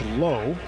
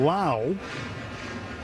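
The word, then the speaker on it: Lowe: They're spelled exactly the same, LWE, but pronounced differently. There's a ground ball foul over by the Dodgers on deck circle. So the second baseman, Brandon Laauo, pronounced like now LWE.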